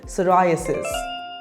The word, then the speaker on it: psoriasis: the correct pronunciation is psoriasis repeat after me psoriasis p is silent psoriasis is a chronic